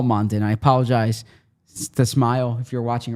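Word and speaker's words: Smael: Now, it is according to the beast pronounced smile.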